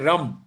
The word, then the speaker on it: रम: पहला बीज मंत्र है रम। र म र और म को नाक से उच्चारण करेंगे। बोले मेरे साथ रम तीन बार रम बोलना है।